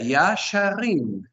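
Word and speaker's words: ישרים: Y el acento obviamente lo colocamos en la última sílaba. La última sílaba es la tónica.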